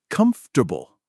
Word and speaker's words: comfortable: For example, I learned that comfortable is said comfortable.